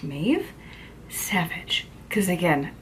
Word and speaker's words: Mabh: supposed to be pronounced mave Savage cuz again it's Irish so the B and the H are supposed to make a v sound from what I can